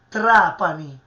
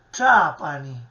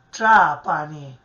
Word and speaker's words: Trapani: mi risento, perché effettivamente la pronuncia di Trapani in siciliano è Trapani, vedete? È sempre un suono cacuminale che proviene dalla retroflessione della lingua all'indietro sul palato superiore. Trapani, ecco, Trapani, quasi strisciando,